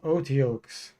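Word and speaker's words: otyugh: from buck rogers yeah those are pronounced otioks they're uh they're very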